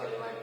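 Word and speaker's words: phthalimide: P silent है, ये मत सोचना सर बार बार थैलेमाइड क्यों बोल रहे हैं, पी है, ठीक है।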